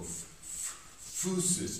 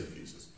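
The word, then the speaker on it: physis: nature it's fixed it's fusus sounds pronounced it's terribly terrible affectation I see people go FES and just I just want to start so I say fuses um and uh in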